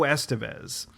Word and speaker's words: Estevez: So Joe I believe Estevez. It's pronounced Estevez.